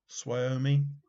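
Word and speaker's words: Suomi: postage stamp saw soyimi i don't know that's pronounced s-u-o-m-i swamy something like that so which country puts wyoming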